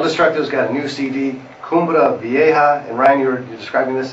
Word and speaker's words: Cumbre Vieja: But anyhow, El Destructo's got a new CD, Cumbre Vieja. And Ryan, you're describing this as a, did I say it right? Yep, Cumbre Vieja.